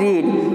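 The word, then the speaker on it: read: अब वर्ब की third form, verb क्या है रीड, तो रीड की थर्ड फॉर्म रेड, स्पेलिंग वही रहती है, उच्चारण चेंज होता है रेड।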